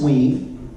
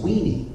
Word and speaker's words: Wee: stands for will write it is pronounced we most of the time though as you can imagine w e and E is mispronounced as weeny right which meant I